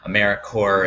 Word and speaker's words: AmeriCorps: knows off the bat AmeriCorps is pronounced like core and you don't say the piece and finally just to